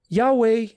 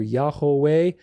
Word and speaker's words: Yahweh: It's not Jehovah, it's not Yehovah, it's not Yahuwah or Yahweh, it's Yahweh, Yahweh. And of course, the accent is on the second part of that.